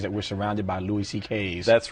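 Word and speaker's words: Szekely: My Hungarian grandfather's name was C.K., but it's spelled, it looks like, it's a mess. It's S-Z-E-K-E-L-Y, and it sounds like C.K., though.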